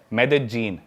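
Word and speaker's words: Medellín: उसकी एक सिटी है मेदजीन। स्पेलिंग में उसमें डबल एल आते हैं। मेदलीन होता है। लेकिन कोलंबियन स्पेनिश में ल को ज बोलते हैं।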